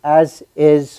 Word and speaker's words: ASIS: and I have with me mock Eklund from as is Long Island chapter welcome mock thank you Frank